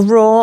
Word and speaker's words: Roar: Well, raw, I always have to say is spelled ROAR. Okay. Not like raw food. It's raw like a lion.